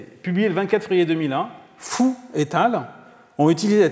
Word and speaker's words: Fu: C'est parce que FU en chinois, ça se prononce fou.